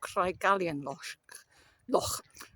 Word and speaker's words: Craigallian Loch: I've been walking for just under an hour and a half, and I've reached what I'm tempted to call Craigallian Loch, because I'm Welsh, but I think it's pronounced Craigallian Loch.